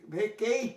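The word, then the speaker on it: vacate: ভেকেট, ভেকেট, ভেকেট মানে হচ্ছে, দেখো ভেকেট উচ্চারণ করার চেষ্টা করবো। ভেকেট, দেখো ভাওয়েল, তারপর কনসোনেন্ট, তারপর ই আছে, সুতরাং এটা লং ভাওয়েল হবে, ভেকেট।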